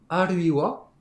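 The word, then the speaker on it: あるいは: Aruiwa, qui introduit un choix, en français ou bien, et vous avez bien entendu, le ha, je l'ai prononcé wa, parce que la conjonction est créée à partir de la particule wa.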